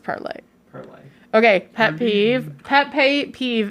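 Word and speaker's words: Parler: is everybody pronouncing it parlor because a parlor is spelled p-a-r-l-o-r and they didn't spell it p-a-r-l-e-r because they're dumb even though they are they spelled it like that because that's the french word uh to speak the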